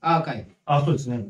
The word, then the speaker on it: ARCV: 富士バイクのトラックアーカイブこれねなんか書き方がね arcv って書いてますね arcv で書いてアーカイブ読み方がちょっと珍しいアーカイブで言ったらね